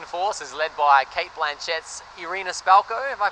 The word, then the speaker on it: Irina Spalko: And at the start of the film, he gets kidnapped by Russian forces led by Kate Blanchett's Irina Spalko, have I pronounced that correctly?